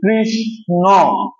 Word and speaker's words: কৃষ্ণ: মূর্ধন্য ন দেখো কয়েকটা শব্দ দেখো এই যে কৃষ্ণ বলতো সবাই কৃষ্ণ কৃষ্ণা দেখেছো উচ্চারণ করো তো সবাই কৃষ্ণ কৃষ্ণা কৃষ্ণ কৃষ্ণা